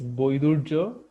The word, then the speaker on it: Baidurya: It's like the original Bengali pronunciation is Boidurjo, which has some story